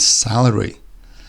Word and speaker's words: salary: have celery and salary' again very similar sounding words they're spelled differently that but the C and the S make the same sound the only difference in this sound is the first E compared with the first a salary is a vegetable